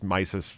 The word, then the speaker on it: Mises: Yeah, it's Mises. Everybody gets that wrong.